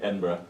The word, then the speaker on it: Edinburgh: Edinburgh.